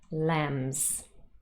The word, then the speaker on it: lambs: teams films lambs now in this last word lambs it looks like it ends in burr which would also be voiced of course however the birdie is silent this is a baby sheep lambs they make me think